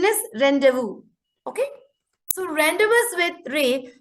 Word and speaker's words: rendezvous: 4 lesson one rendezvous with ray it is rendezvous it is not renderers but still we just go on with rendezvous sometimes so the actual pronunciation is rendezvous okay so rendezvous with ray is a news